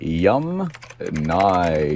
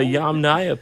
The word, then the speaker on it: Yamnaya: Yum Nai. No. Okay, so the Yamnaya people, not Yamnya.